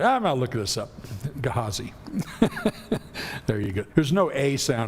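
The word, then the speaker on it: Gehazi: Uh the way the Hebrew word here for the servant of Elisha is is is pronounced is Gahazi. So just so you would like maybe to know all my life I've gone Gahesi whatever you know that's what it looks like in English.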